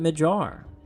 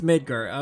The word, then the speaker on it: Midgar: But apparently the name of it is Midgar. I'm pretty sure. I'm pretty sure he was right. But I always called it Majar. Final Fantasy 7 fans, anyone? It's Midgar. Okay, that's what I thought.